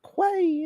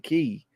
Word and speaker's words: Quay: time I said that it's not Quay it's okay everybody got their knickers in a bunch I'm gonna call it clay just cause ah country and that's how we roll we is country we pronounce everything wrong it's the way we do it is it really K are y'all messing with me why is everybody saying key y'all know that's a key right so now I'm